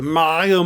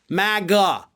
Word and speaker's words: MAGA: everybody knows that the maya movement like the guy can't even pronounce it correctly it's four letters magga it's super easy your family created that